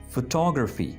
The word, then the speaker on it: photography: Okay, so the first word that we have here is photography.